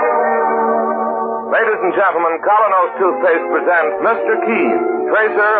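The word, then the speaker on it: Kolynos: Ladies and gentlemen, Colinos Toothpaste presents Mr.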